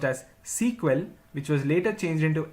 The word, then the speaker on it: SEQUEL: initially the language was known as Structured English query language pronounced as sequel which was later changed into SQL in the year 1978.